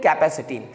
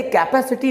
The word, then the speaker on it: capacity: Guys, इसको लोग बोलते हैं कैपेसिटी। गाइस, ये कैपेसिटी नहीं होता है। तो गाइस, इस वर्ड का सही साउंड होता है कैपेसिटी। याद रखिएगा, आज के बाद आपको इस वर्ड को कैपेसिटी प्रोनाउंस करना है, कैपेसिटी।